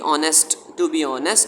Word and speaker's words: honest: इसमें H silent है. Honest. Stu, now go and tell your brother Andrew to bring me his blue suit.